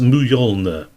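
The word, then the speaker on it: Mjölnir: It's spelled Mjolnir. So that's one where spelling might come in. Mjolnir, but pronounced Mjolnir.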